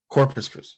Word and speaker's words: Corpus Christi: about corpus christi did i just did i pronounce it right yes corpus christi all right so i know very little about